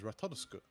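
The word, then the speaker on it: Ratatoskr: Like oscar but with a t at the start.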